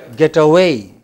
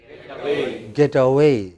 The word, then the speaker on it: getaway: Getaway. What should it be? Getaway. You know, the stress is on way. Getaway.